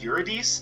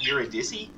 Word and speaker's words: Eurydice: i have to question i've always heard it pronounced eurodis not eurodizzy um is there anyone out there that knows the the proper pronunciation because i get the feeling that you know like you're a dissie i i'm pretty sure it's supposed to be yuridis quran is supposed to